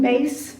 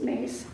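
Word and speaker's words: Myss: So Catherine, I don't know, any of you know Catherine Mace. She wrote a book called Intimate Conversations with the Divine. It's spelled M-Y-S-S, but I think it's pronounced Mace.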